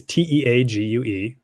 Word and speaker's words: Teague: So Teague is Teague, like league, but with a T, and is spelled like the college or like the university.